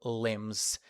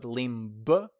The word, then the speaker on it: limb: That's why those growths on the main body are called limbs. Remember, the B is silent. It's not limbb.